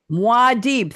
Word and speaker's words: Muad'Dib: Eric is quoting Guild Agent speaking to another word I can't pronounce, Muad'Dib, aka Paul. Muad'Dib. Say it again. Muad'Dib. Muad'Dib, thank you very much.